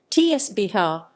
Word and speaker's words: Cooch Behar: Cooch Behar District, pronounced Cooch Behar, is a district of the state of West Bengal, India, as well as the district's namesake town.